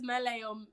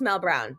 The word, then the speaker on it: Melle: from Beauty and the Beast, because everybody says Melle or Melly, and I don't mind, like, because that means if people are typing in Melly, they'll find me online.